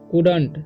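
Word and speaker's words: couldn't: The Lions, ठीक है, कुडंट। ठीक, COULD, जब भी LD साथ में रहेगा तो L साइलेंट हो जाता है।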